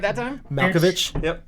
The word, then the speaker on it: Malkovich: Malkovich. Yep, Malkovich.